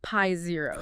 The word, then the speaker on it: π0: It's pronounced Pi Zero. Pi Zero.